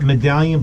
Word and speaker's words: Medallian: Pronounced Medallion, but spelled Medallian.